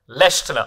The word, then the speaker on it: Leschziner: So can you tell us how it's pronounced? Leschziner.